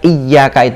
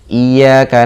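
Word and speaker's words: إِيَّاكَ: Namun jika kata "iyyaka" kehilangan tashdidnya, menjadi "iyaka na'budu", tashdid tersebut hilang dan dibuang, maka artinya adalah " sinar matahari."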